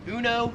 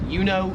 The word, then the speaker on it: Uno: Number six is the popular card game Uno. In America, we pronounce it uno. This kind of like the emu one. Uno. Here it is more pronounced like youo.